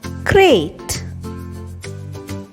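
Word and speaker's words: krait: Number 3, Crate.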